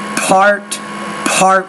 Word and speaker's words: part: Okay, when you say that word part 1, you have to pronounce the P with more air. Part 1.